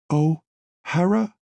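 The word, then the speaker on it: O'Hara: blurted boots rather desperate oh Hara she pronounced it like two distinct words he has no seat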